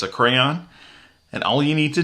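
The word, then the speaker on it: Krea: Now, it's not spelled exactly the same as the crayons of your of your youth, but it is called crayon or it's pronounced crayon.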